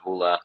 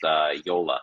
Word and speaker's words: Joola: So I've heard people say Joola, Joola, Hula, but yeah, it is actually pronounced Joola.